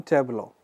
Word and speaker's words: tableau: Now, tableau is something that I say something like Tableaux. So, the pronunciation is tableau.